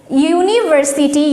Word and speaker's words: university: European, which pronounced as U. Useful animal, U. University, U.